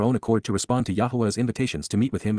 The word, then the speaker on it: Yahweh: perfect cohortative from QPS Yahweh Yahweh the proper pronunciation of the name of eloah God as directed in his